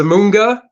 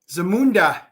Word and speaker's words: Zamunda: How do you pronounce Zamunda. it? Zamunda. Zamunda.